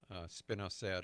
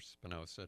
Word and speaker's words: spinosad: think that anything that has spinosad or Spinoza however you want to pronounce it and it's probably one